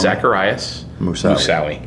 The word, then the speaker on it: Zacarias Moussaoui: Can you pronounce his name for me? Zacarias Moussaoui. Zacarias Moussaoui.